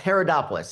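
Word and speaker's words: Haridopolos: And it's pronounced Herodopoulos.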